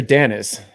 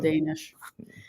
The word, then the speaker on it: Danish: a blast doing that Danish or Dennis Danish you can call them Dennis if you want but we call him Danish he says to pronounce it like that I don't know happy